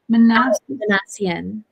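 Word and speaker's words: Minassian: How do you pronounce his name? Manassian.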